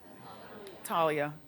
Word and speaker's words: Thalia: Also, the Mexican singer Talia Thalia, how do you say her name? Talia.